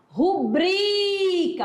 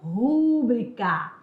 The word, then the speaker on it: rubrica: última que é forte o certo é falar rubrica olha ó rubria e não rúbrica tá bom então essa questão da prosódia é